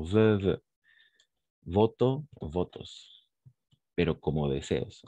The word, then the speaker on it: vœux: On prononce de la même façon, vœux.